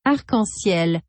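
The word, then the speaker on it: arc-en-ciel: word for rainbow oh it is pronounced uncle SIL well that's kind of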